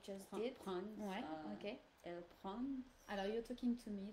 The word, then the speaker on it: prend: But can you pronounce, do you have to pronounce all of the letters? The last letter doesn't.